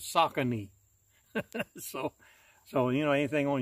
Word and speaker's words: Saucony: the YouTube I mean the Google says you pronounces saucony so you know anything